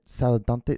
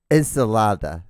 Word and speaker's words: ensalada: close not even close ensalada see it it's like yeah it's like enchilada but ensalata it's so